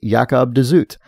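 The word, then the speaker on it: Jacob de Zoet: of the Thousand autumns of uh Jacob dooit pronounces the name as yakob dut thought you'd might want to know after the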